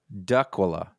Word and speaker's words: Dracula: from now it says it's like looks like Dracula GA Georgia but uh he says it doesn't rhyme with Dracula it's daila duula duula dula what what he doesn't